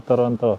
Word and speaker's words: Toronto: So hindi daw Toronto.